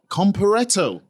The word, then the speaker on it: Comparetto: And we've got the main man today, Comparetto. Is that how you pronounce it?